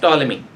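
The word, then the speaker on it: Ptolemy: टॉलमी, Claudius टॉलमी। P silent रहेगा।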